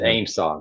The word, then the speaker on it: AIMSOG: and they pronounce it AIMSOC. I don't know how they got that pronunciation out of it.